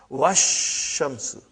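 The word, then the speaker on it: والشمس: But if waw came, put waw in front of this, you will say wash. Even alif and lam both were assimilated. Wash shamsu. Okay?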